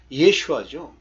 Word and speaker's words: 여호수아: 근데 그 여호수아를 정확하게 발음하면 예슈아죠.